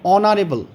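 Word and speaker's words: honorable: বসাবো তো এখানে দেখো এইচ এর উচ্চারণ এখানে হয়েছে অ বা আ এখানে অনারেবল উচ্চারণ হয়েছে তাই এখানে এন আর্টিকেলটি বসবে তাহলে এখানে mister Basu is অ্যান অনারেবল person ঠিক তেমনি এন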